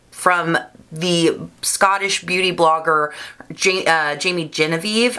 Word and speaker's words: Jamie Genevieve: Now this is a new influencer brand from the Scottish beauty blogger Jamie Genevieve, I think is how you say her name.